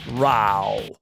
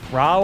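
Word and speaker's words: Raoh: Listen to his pronunciation. Ra. Ra and Toki.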